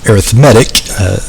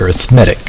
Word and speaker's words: arithmetic: It's actually arithmetic. Arithmetic would be the noun, right? So arithmetic, math. Whereas if you use it as an adjective, then it's pronounced arithmetic for some reason.